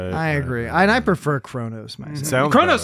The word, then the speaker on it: Kronos: that it's spelled like Kos but they always pronounce it Kronos I agree and I prefer Kronos myself Kronos sounds cool I mean to be